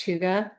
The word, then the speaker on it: hygge: It's spelled Hyggge, but it's pronounced hygge.